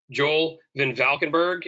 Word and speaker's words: Joel Van Valkenberg: here at johnson controls joel van valkenberg and if you're asking it is spelled exactly the way it sounds um exactly i believe